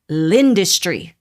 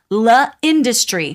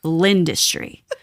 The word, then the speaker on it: L'industrie: It is not la industrie. We're talking about the pizza place. It is not la industrie. Everyone in the hospitality industry should know this. It's l'industrie. The L blends in.